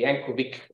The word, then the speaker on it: Yankovic: I will talk a little bit about Frankie Yankovic, or Frankie Yankovic, as is pronounced in United States.